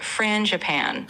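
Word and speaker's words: frangipane: It's pronounced Fran Japan. So, kind of like Fran Japan.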